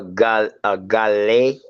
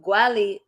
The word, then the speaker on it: Guale: the original pronunciation of Gwali. It got, you know, later on it became Gullah, but the original pronunciation was Wali.